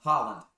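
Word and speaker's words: Haaland: You're gonna have to help me pronounce this guy's name. Go on. What? Try it. Holland. Holland. Holland.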